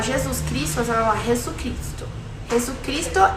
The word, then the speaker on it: Jesucristo: Se você quiser falar Jesus Cristo, você vai falar Jesucristo. Jesucristo é el Senhor, certo? Tudo junto. E não se esqueça que o som de J tem som de R na pronúncia, tá?